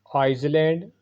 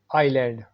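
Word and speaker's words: island: Next word है आइसलैंड, या इसको इजलैंड लोग पढ़ते हैं। सही इसकी प्रोनाउंसिएशन है आइलैंड, आइलैंड।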